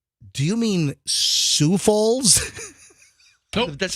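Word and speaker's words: Sioux Falls: all of your business mailings go instead of Sue Falls it was Sauk Falls because because Sue Falls is spelled s IO uux you know I did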